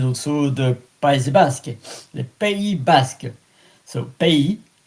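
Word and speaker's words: pays: So pay P A Y S P.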